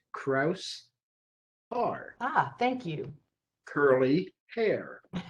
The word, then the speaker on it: Kraushaar: first fll partner bob krafshar did i get it right close enough what is it really the s and the h are pronounced separately okay so it's kraus r ah thank you curly